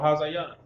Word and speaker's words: Hazayan: Next, we have General Mayaki Allah, spelled Ma, Ya, Ka, soft pronunciation. Then Ya, Allah, Mayak, Ya Allah. General Hazayan.